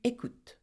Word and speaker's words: écoutes: But you do not pronounce the S. Tu écoutes.